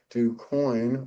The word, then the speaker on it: DuCoin: We are fortunate today to have Edward DuCoin on the show with us. And did I pronounce the name correctly?